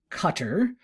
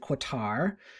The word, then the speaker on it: Qatar: this is sophia almeria um and she's from cutter that's how you pronounce it now we used to pronounce it qatar um and she's interesting she is the offspring